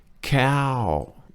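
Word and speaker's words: เข้าใจ: Kaljai. Two syllables in this word. Kaljai. One word, 2 syllables. Cow is falling and jai is flat tone.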